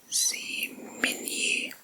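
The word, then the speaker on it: Zmiinyi: have control over and here's a word I'm going to attempt to pronounce see Min Island and it's spelled z y m i n y i is a Min Island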